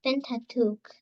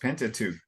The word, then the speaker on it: Pentateuch: simply about Moses of of authorship in the thin tattoo very well pronounced pentateuch the uh there's a verb that's in you